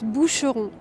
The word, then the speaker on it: Boucheron: This one is also a brand that I'd say is a bit hard to pronounce. So it's Boucheron.